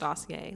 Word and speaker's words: Dossier: from the brand dossier I assume it's pronounced dossier like glossier it could be dossier